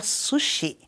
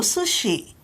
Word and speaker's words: sushi: e não tokyo sushi o correto seria sushi brasileiro tem a mania de acentuar a última sílaba sushi sushi percebeu a